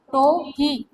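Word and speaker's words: Tuohy: टोही। ठीक है, यू यहाँ पे साइलेंट है, क्या बोल देंगे इसको?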